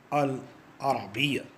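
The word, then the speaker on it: العربية: Arabic should be pronounced as Al-Arabiyya in Arabic language.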